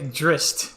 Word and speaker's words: Drizzt: got around to it yeah apparently you say Drizzt that's how you say it oh it's dressed